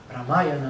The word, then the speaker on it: Ramayana: Quando você começa a entender, por exemplo, textos védicos como o Ramayana, né, que Ramayana, né, que eles pronunciam na Índia, você começa a entender que existem muitas raças envolvidas no próprio planeta.